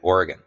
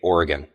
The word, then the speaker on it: Oregon: Most people say Oregon or something like that. So I've been working on it. Like we have a team member in in Oregon and you know it